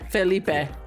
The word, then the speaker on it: Felipe: Felipe. Yeah, I would go with spicy because I definitely prefer the spicy pronunciation, as the children at LLP have pointed out to me.